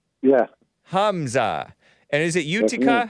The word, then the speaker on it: Utica: And is it Utica? How do you pronounce?